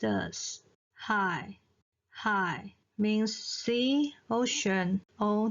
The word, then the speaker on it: 海: So the third tone of high is pronounced as high.